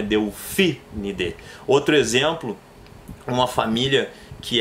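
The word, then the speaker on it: Delphinidae: Então, no caso da família dos golfinhos, o correto é Delfinide, porque sobram mais duas. Então, a terceira sílaba tônica para dar som de proparoxítona é o PHI. Então, é Delfinide.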